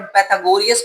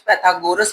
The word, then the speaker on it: Pythagoras: उसी के हवाले से, इसको वर्ड पाइथागोरियस कुछ पढ़ते हैं, कुछ पाइथागोरस पढ़ते हैं, तो डिफरेंट डिफरेंट प्रोनाउंसिएशन है, उसके हवाले से आपने जो है ना वो कंफ्यूज नहीं होना।